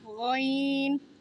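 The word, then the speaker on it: غين: গইন। গইনের উচ্চারণটা সেম, গলার ভেতর থেকে। গইন। গইনের উচ্চারণে গলার ভেতর থেকে বাতাস বের হবে।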